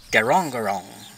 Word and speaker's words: Grong Grong: now we're in guangrong go wrong go wrong is the pronunciation of it it's an aboriginal meaning